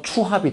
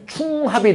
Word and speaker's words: 추합: 줄여서 추합이 된 거야. 미등록 충원 합격 줄여보세요. 그럼 원래 뭐가 돼야 돼요? 충합이 돼야 되잖아. 발음 한번 해보세요. 추합해서 이응 탈락 현상이 발생하는 거야. 충합은 발음이 안 돼.